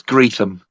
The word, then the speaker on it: Greetham: How would you pronounce one word put together? The words great and ham. Great as in GREAT, HAM. But all one word. Great Sam. Graham. Great ham. Great Sam. No, it's Greetham. Greetham.